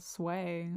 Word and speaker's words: SWEA: I don't like the way you SWEA pronounce calendar. it. SWEA, sway.